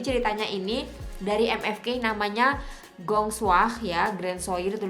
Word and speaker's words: Grand Soir: Cara bacanya adalah Gong Soir. Gong Soir, tulisannya Grand Soir.